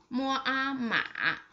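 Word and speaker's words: 马: The third one with the third tone, its pronunciation is just like this. Mo a ma.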